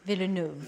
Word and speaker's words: Villeneuve: Do not pronounce the S to Denis, it is silent in French. Do not say Denis, but rather Denis Villeneuve. Denis Villeneuve. Villeneuve.